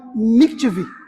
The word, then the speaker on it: mikveh: era um ritual chamado mikveh. Eu acho que é assim que se pronuncia, tá? Eu não sou profissional em hebraico. M-I-K-V-E, com acento no E.